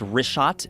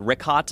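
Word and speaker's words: Richat: In the first couple uh I just want to say it's Rishot. I used to call it Rickot. I was mispronouncing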